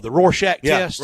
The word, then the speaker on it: Rorschach: The Rorschach test? Yeah, Rorschach. Am I pronouncing it right?